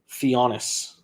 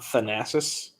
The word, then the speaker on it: Thanasis: his whole woman situation theonis theonis theonis not thanasis it's spelled thanasis theonis got it I will